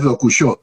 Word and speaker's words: Dokushó: cierto, por cierto que mi nombre es Dokushó, con acento en la Dokusho, O.